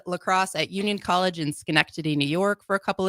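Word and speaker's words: Schenectady: Um after high school, I played lacrosse at Union College in Skenctity, New York for a couple of years.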